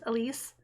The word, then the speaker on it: Elise: And I did look up her name, and I believe it is pronounced Elise, just spelled different than what I'm used to.